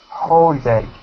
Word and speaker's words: holiday: holiday holiday holiday holiday holiday good not holy but Holly holiday holiday holid day good next